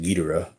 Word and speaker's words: Ghidorah: Is Destroy All Monsters, and this is when Guidera or Ghidorah or however you want to pronounce it, but I think most people pronounce it Guidera, when he lands on